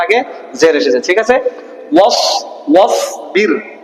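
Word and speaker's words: واصبر: ঠিক আছে, ওয়াসবির ওয়াসবির, এখানে কি হবে? রা বারিক হবে না পুর? বারিক কেন? রা সাকিনের আগে কি এসেছে? জের এসেছে, তাহলে এটা উচ্চারণ কি হলো? ওয়াসবির।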